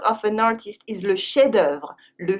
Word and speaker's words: chef-d'œuvre: The main work of an artist is le chef-d'œuvre. Le chef-d'œuvre. We don't pronounce the F.